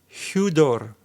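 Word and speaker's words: ὕδωρ: If a word in Greek starts with upsilon or a letter rho, it should always have a rough breathing mark.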